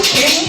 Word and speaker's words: Kxng: But if you gonna spell the King, spell it with an X.